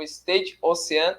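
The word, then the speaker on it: Stade Océane: Né, a partida vai ser no Stade Ocean, é assim a pronúncia?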